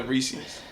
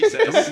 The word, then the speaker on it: Reese's: No, I'm pretty sure that the Reese's minis that they threw in there.